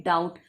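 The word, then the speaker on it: doubt: फिर आता है डाउट। डाउट में देखिए B एकदम साइलेंट है क्योंकि B की कोई आवाज नहीं है, उसका कोई प्रोनाउंसिएशन उच्चारण नहीं है, तो ये बिल्कुल साइलेंट है, तो हम इसे राउंड अप करेंगे।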